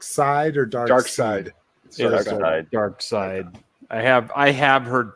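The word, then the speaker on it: Darkseid: he has the Omega beams okay how's it pronounced comic people is that dark side or dark dark side dark side I have I have heard people say dark seed which I saw dark I said dark seed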